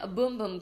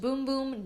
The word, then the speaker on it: bumbum: sol de janeiro brazilian bumbum cream yes it's supposed to be pronounced boom-boom not bum bum but I'm not gonna